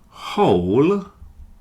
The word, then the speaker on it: whole: Whole sounds like whole. So with or without the W, it's exactly the same sound.